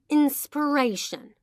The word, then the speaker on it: inspiration: Next vocab is inspiration. بچه دقت کنید این تلفظش با فعلش فرق داره.